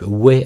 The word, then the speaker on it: Hue: avec Zoom, donc encore une fois juste deux outils, cette caméra et le logiciel Zoom, est une caméra de type Hue, alors soit ça se prononce Hue ou U, donc c'est H-U-E, et puis c'est une